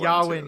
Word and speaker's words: Yavin: Or how to pronounce Yavin. Yeah. Sorry. I got to get my troll. Yawin. Yawin. The Battle of Yawin.